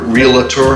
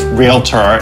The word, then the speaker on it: realtor: I've never seen that does it bother you when people pronounce realtor realtor it does it's realtor it's a two syllable word thank you teammates being